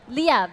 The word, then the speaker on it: Liyab: Liyab? Liyab, Yeah.